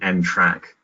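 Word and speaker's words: NTRK: should be a pronounced end track or they subsequently to these trials the field seems to have agreed that they're actually pronounced track to rhyme with railway track so despite their the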